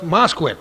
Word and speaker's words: Mosquick: I didn't know how to pronounce his last name until he told me it rhymes with Bisquick. So it's Mosquick, right?